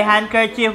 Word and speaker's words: handkerchief: guidance Okay handkerchief What is the silent letter there d Okay 50 points